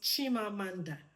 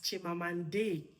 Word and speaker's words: Chimamanda: But it's quite annoying that we have a teacher somewhere trying to pronounce Chimamanda as Chimamande. Now you trying to pronounce Chimamanda as Chimamande. What is now the meaning? Because Chimamanda has a meaning. Now you're trying to pronounce it in an American way.